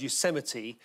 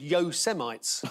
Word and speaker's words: Yosemite: reading the autocue and it came to the word Yosemite said yo semites I'm in a news